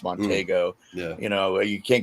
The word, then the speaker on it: Montego: a 69 Mercury monteo I've seen people pronounce it Montego but I think it's monteo yeah you know you